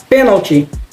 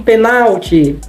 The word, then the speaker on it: pênalti: pênalti, ele cometeu um penalti, né? Olha que coisa interessante, olha como é que a língua é algo interessante. Pênalti, penalti, muda apenas a sílaba tônica e também, claro, o acento a ser utilizado.